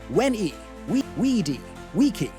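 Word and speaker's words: veni vidi vici: Most modern Latin pronunciations are Italianized, but scholars now know ancient Roman Latin had hard v sounds and rolled Rs. Veni vidi vichi sounded like when we weedy, wiki.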